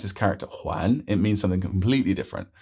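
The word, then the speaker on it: 还: most common by far so the most common pronunciation for this character is hi which means still p a how has he still not come yet why hasn't he come yet but when you pronounce his character Juan it means something completely different it means to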